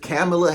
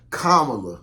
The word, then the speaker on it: Kamala: now is because if camela Harris or let my bad kamla okay because they was